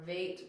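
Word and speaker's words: וית: V or vate with the void or vacuum makes V.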